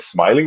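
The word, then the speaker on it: Smaylin: He attacks Smile, which is spelled S M A Y L I N. I think it's it sounds like smiling Valdez, but Smiling where he stopped the fight in the second round against Anel Cruz.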